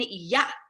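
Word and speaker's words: יָהּ: it's a signifier that it's not just a silent H sound we actually really pronounce that H we go yes and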